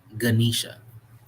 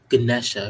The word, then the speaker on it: Ganesha: life what resigns over the root chakra right ganisha Ganesha if you if you want me pronounce it better no disrespect to the guy